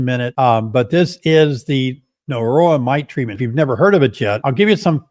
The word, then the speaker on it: Norroa: It's called Norroa. It's like Varroa, the Varroa mite, but it's pronounced Norroa.